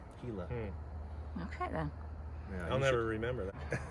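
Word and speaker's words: Gila: it Soro like the heila river spelled GI I L A the G makes the H sound heila okay then I'll never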